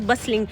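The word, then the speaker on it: bustling: Next word is बसलिंग। इसकी pronunciation बस plus लिंग है। टी इसमें कहीं ना कहीं साइलेंट है। राइट? और यह बात आपको याद रखनी है कि बसलिंग में टी साइलेंट होता है।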